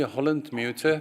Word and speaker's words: Holland-Müter: It is actually Holland-Müter, but I'm used to it that people pronounce it in different ways. But the correct way is Müter.